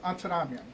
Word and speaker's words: Antaramian: It's Antaramian. But if you want to pronounce it correctly, it's Antaramian. So Antaramian works.